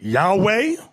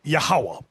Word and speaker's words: Yahweh: Now, depending on your form of Hebrew, you have some people pronounce it Yahweh. Another group pronounce it Yahuwah. We were taught Yahweh.